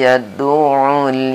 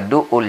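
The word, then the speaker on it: يَدُعُّ: Fadzalikal ladzi yad'ul yatim. Hati-hati di yad'ul. Ini ain, ya. Bukan yadu. Banyak di sini sahabat-sahabat kita sering membacanya yadu'ul yatim. Di sini ain. Yad'ul.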